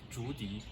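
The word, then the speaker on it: 竹笛: We can, because the pronunciation bamboo in China is Zhu and the flute is Di, so we always call it Zhudi.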